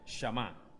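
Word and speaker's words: שמע: Esta palabra Shama tiene como significado, así como se escribe, así como se escucha, Shama, como si fuese a decir Shema, pero cambia la E por la A.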